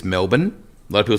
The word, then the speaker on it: Melbourne: It's about 6 hours drive northwest of Melbourne. Most people have heard, and for Americans, it's Melbourne. A lot of people say Melbourne.